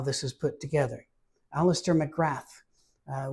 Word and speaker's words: McGrath: Alistister McGrath uh we would pronounce it McGrath in Scotland but uh